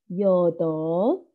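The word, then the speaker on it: 여덟: soul 7 ikut 8 jodoh tulisannya jodol bu tapi cara baca jodoh-jodoh jadi agak tipis saja Kemudian 9 Ahok Ahok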